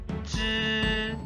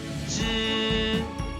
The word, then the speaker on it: 只: This special counter is pronounced 知 with first tone, a high-pitched flat tone. One more time. 知知知 is a counter for small animals like dogs and cats.